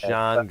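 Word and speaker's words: Jaan: this is huge news his first name is spelled j-a-a-n by chance yes John yes ah because I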